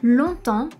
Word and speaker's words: longtemps: We have the long word where we do not pronounce the final G and the word temps where we do not pronounce the P and the S at the end either.